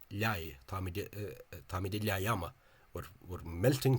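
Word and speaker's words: leá: Tangan to my recollection, the Munster speaker pronounces that as law, as if it were a broad L or like a vaguely neutral English L. Whereas what's actually said in Munster is liai, táimid de liaiama.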